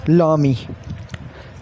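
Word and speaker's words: l'ami: The first one इज़ लामी, it's pronunciation is लामी।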